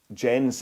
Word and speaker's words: Jens: Jens is right. Oh, so I do pronounce the S.